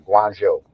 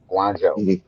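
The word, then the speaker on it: Guangzhou: I remember one day me and my brother, we was in Guanjo. Guanjo is spelled Gu U A N G Z H O U. Guanjo.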